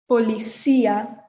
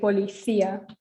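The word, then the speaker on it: policía: in uh south america you'll hear that people say policia that's just um dialect or accent difference but in spain people will say polythea that's the accent island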